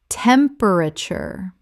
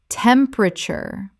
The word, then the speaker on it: temperature: comfterble comfortable Word five temperature Common mispronunciation temperture Correct pronunciation temperature This is three syllables in natural speech. The middle syllable is swallowed.